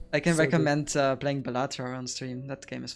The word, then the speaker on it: Balatro: I can so recommend playing Balatro on stream. That game is fun. Wait, how do you pronounce it?